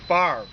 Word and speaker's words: Favre: And it's on Rue President Favre. Believe it or not, you know, like Brett Favre, the football player.